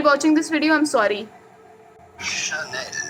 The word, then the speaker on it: Chanel: Chanel. I'll be very honest, as a kid I used to call this channel.